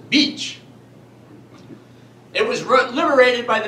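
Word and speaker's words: Bitche: spelling is actually vit c CH e it's pronounced beach it was liberated by the men of the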